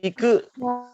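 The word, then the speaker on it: 行く: Nah, mungkin teman-teman bisa dengar ya, saya atau Pri Sensei yang mengucapkan itu sangat ditekankan di huruf terakhir macam kaku, koko, kao, akai, iku ya. Karena seperti itu pelafalan orang Jepang juga seperti itu.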